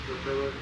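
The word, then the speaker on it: Rapallo: Rapello.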